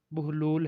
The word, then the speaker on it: بہلول: سے واقف ہوں گے۔ بہلول کی بے پر پیش اور ہے پر جزم ہے، جس کی وجہ سے اس کا اصل تلفظ بہلول ہے، جس کے معنی ہنس